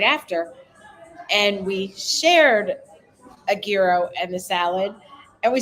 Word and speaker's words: gyro: And we each had a gyro that they told us, and I asked, how do you pronounce it? They said gyro.